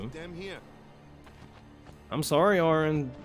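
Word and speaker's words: Auron: do I do I am familiar I'm familiar a a Ron it's actually pronounced Aaron go to Yuna I've already gone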